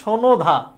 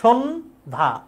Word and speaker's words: সন্ধ্যা: হস্যচিহ্ন নেই মানে সনোধা, সনোধা না, ওখানে তো ব্রেক করতে হবে, সন্ধ্যা।